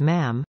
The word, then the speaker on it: ma'am: majesty and thereafter as ma'am pronounced with a short uh as in Jam although thus far she